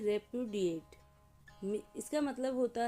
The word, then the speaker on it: repudiate: इसका प्रोनंसिएशन है रेपुडिएट।